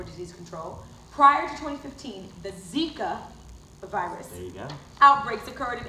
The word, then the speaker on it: Zika: sickle fire Malory Malory it's pronounced Zika will excuse me I